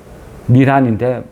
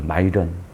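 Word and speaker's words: Miran: 미란인데 마이런이라고 하죠. 마이런. 스티븐 마이런. 마이런.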